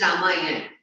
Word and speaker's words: Ramayana: Events from Ramayana and from the life of the Prophet were the bedtime stories my mother and grandmother would tell the children in our family. Okay. It's Ramayana.